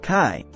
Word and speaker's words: Kay: part of his childhood k a German name pronounced Kai which rhymes with Sky Brett's had a persistent